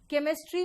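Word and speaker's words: chemistry: फिर वापस आओ, यहां बताओ सी एच श दे रहा है, केमिस्ट्री में सी एच क देता है, और चोपड़ा में सी एच च देता है ना?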